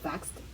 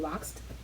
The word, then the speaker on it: vaxxed: Are you vaxxed? 뭐 백신 맞았니? 이런 말이 발음을 잘못할 경우에 Are you waxed? 왁싱했냐? 라는 의미로 발음될 수 있으니까 주의하라고 하셨고요.